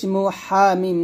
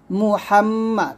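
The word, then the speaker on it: محمد: জবর মা মুহাম্মা মুহামমা আমরা এখানে অনেকেই মহাম বলি মিম পেশ মুনা বলে ম বলি তো এটা উচ্চারণটা ভুল করবেন না মিম পেশ মু বলবেন মুহাম হাটু চাপ দিবেন মুহাম্মাদ এ দাল র ধরবে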